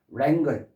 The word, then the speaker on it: wrangle: 그 다음에 W 발음 안 되고요. wrangle 말다툼하다, 논쟁하다.